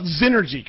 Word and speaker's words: Xnergy: question for you so so first of all znergy correct yes okay so so because that's spelled with a with an X by the way Nails